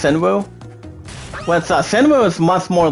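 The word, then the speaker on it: Shinryu: It's pronounced as S-H-I-N-R-Y-U, it's Shinru.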